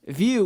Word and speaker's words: Vue: for visual reference it's the same thing view with uh not spelled traditionally v-u-e is actually how they spell it and so um this